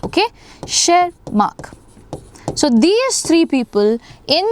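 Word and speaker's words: Tschermak: The T is silent. Okay. Shermark.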